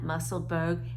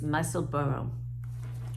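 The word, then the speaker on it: Musselburgh: I learned the correct pronunciation. It's not Muscleburg, it's Muscleburg.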